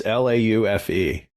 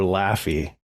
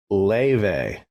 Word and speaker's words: Laufey: So her name, now I was mispronouncing it wrong. It's Laufe. So you want to call her Laufey, right? Laufey. But it's Laufey, because it's Icelandic.